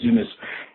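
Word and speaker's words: Yunus: business by Muhammad unus y u n us I believe it's pronounced to Muhammad unas and uh really enjoying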